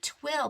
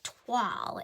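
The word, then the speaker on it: toile: So when in doubt, we went to Google, and it is Twaal. It's pronounced as if it were written T-W-A-L-L, and it is a French word that means linen, cloth, or canvas.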